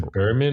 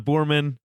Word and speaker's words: Boorman: Is it Boorman or Boor- Boorman.